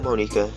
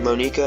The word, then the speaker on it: Monika: Just so you know, I'm pronouncing her name Monika. I know there's probably a lot of people that call her Monica, but this is a Japanese game, so I'm pronouncing how it would probably be pronounced in Japan.